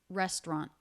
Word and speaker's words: restaurant: a nasal consonant n restaurant try that restaurant first syllable stress restaurant restaurant restaurant you